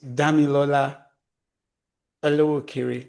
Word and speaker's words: Damilola Olowokere: So the way to pronounce my name is Damilola Olowokere, but you can just say Dami because I find many people just say Dami.